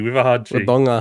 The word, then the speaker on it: Wodonga: Are you supposed to say Wodonga? Wodonga. Albury Wodonga. Yeah, anyway, I was nearly at your house. Wodonga. With a hard G. Wodonga.